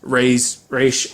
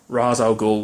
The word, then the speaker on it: Ra's al Ghul: But now it is becoming less likely that, oh, he is Raish or Ra's al Ghul, whichever way you want to pronounce it.